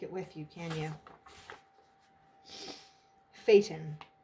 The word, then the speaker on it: Phaeton: with you can you phaeton i'm pretty sure that's how you say it p-h-a-e-t-o-n adopted from